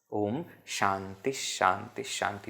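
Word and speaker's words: ॐ शान्तिः शान्तिः शान्तिः: again based on sh this is at the end therefore pronounced as H Om Shanti Shanti Shanti what are we praying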